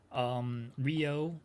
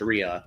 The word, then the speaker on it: Rhea: Rio, or not Rio, sorry. That's kind of how to say it. Rio, Yeah. Rhea Ripley and Io Sky against Asuka and Kairi Sane, Kabuki Warriors.